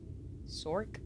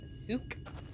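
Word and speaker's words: souq: Sork? No, there's no R in that. It's like S-O-U-Q. So Souk.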